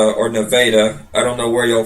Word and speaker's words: Nevada: had to be for Nevada or Nevada I don't know where yall from but they said we everybody pronounces it wrong it's Nevada not Nevada I'm like what so